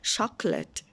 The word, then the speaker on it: chocolate: เขือด Chocolate ช๊อค เกิด เรา จะ ไม่ อ่าน ว่า ชอบ โก แล้ว แต่ นัก เรียน เรา จะ เอา ชอบ คืน ช็อกโกแลต อย่าง นี้ สั้น ๆ เร็ว ๆ ช็อกโกแลต อ่ะ ต่อ มา สี แดง